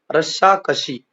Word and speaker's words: रस्साकशी: रस्सा कशी, यहाँ पर पेरे वाला स भी है जिसका उच्चारण स रहेगा। जो अंतिम जो श है उसका उच्चारण थोड़ा सा अलग है, उसको बोलते हैं श। तो ये शब्द बन जाएगा रस्सा कशी।